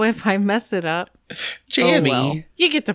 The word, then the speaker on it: Jammy: His name is supposedly pronounced Jamie, but is spelled Jammy. So if I mess it up, Jammy.